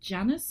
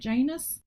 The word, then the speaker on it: Janus: Uh Romans and Janice, is that how you pronounce it? Janus.